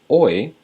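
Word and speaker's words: hoy: Today is oi. Remember you don't pronounce the h's.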